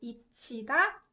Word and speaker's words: 잊히다: 지읒 받침 plus 히읗 produces 츠 sound. So this one should be pronounced 잊히다, 잊히다.